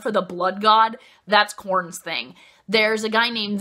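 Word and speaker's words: Khorne: they're they're so awesome so it's corn it's spelled KH o R and E and he is the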